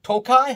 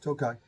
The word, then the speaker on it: Tokaj: And that one had Tokaj. How do you say that? Tokaj.